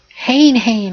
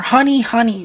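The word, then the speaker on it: Hane-Hane: my number seven is Hayne Hayne or honey honey depending on how you want to pronounce it and how Hayne Hayne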